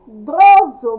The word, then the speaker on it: medroso: Medroso, medroso, escrita com S, pronúncia com Z.